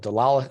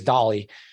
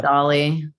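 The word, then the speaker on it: DALL-E: Delali. I don't want to mispronounce. What's your name? Delali, something like that. I think Joey probably may have it there, but I think it's Dolly. Yeah, it was Dolly.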